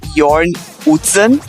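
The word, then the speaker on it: Jørn Utzon: que o nome dele acho que a pronúncia certa é Yorn hsen ele submeteu o desenho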